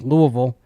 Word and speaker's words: Louisville: North Carolina 9.5 point favorites tonight against Louisville. and I pronounced it correctly, by the way.